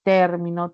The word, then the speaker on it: término: No es igual, por ejemplo, pronunciar término, termino, terminó. El acento se traslada, es un acento libre, ¿no?